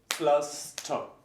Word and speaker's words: Pflaster: In the middle, pflaster. And this is because the syllable goes here, pflaster.